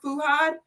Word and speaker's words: Fuhad: Nigerian what's your name fuad how do you pronounce it fad fuhad what is that like African what are you